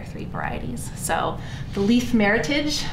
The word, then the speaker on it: Meritage: So the Lyeth Meritage, it's not Meritage, Cheryl. It is Meritage. It is an American word that was invented to honor this blend. It is not a French word.